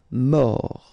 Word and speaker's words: mort: Mort. Final T not pronounced. O-R, or. Mort.